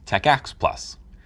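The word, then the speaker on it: TACACS+: may come with it t-a-c-a-c-s plus pronounce Tech ax plus it stands for terminal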